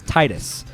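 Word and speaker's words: Tidus: titus um i've i've i've always pronounced his name as titus but i think in one of the games like in the dissidia games they somebody says his name and i think it's the first time that square enix got someone to voice his name and they say his name is titus but no that's right i don't care no that's wrong it's spelled t-i-d-u-s and i've always just pronounced that as titus so i'll call it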